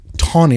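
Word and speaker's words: Taney: In the 1857 DreadScott decision, Justice Tony, it's spelled T A N E Y. It's pronounced Tony like with it as as though it has a W in it.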